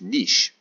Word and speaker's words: niche: very important word and that word is niche or niche I'm not too sure I can you pronounce it both ways anyway a niche is